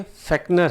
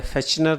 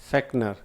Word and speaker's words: Fechner: ये ध्यान रखिए, ये फेक्नर है, फेचनर नहीं है. प्रोनाउंसिएशन करेक्ट है, फेक्नर.